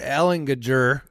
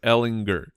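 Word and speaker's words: Ehlinger: uh I'm not sure Alan gager no no he deserves to have his name pronounced properly yeah Ellen gooder Sam Ellinger thank you I mean this poor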